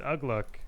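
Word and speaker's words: Uglúk: Looks like Poero's bringing out Ugluk. Honestly, there's probably someone out there that's like, Ugluk, what do you mean? It's Ugluk.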